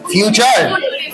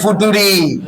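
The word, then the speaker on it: future: এফ ইউ টি ইউ আর ই, ফিউচার। আর এ ফুটুরি, exactly. না স্যার, তবে আর এর উচ্চারণ কখনো রি করা যাবে না, কারণ ইংরেজিতে প্রোনাউন্সিয়েশন এখানে একটা ব্যাপার আছে, ওটা ফিউচার উচ্চারণ।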